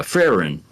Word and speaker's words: Frieren: that's being told because this is about uh frin that's how you say it frin f no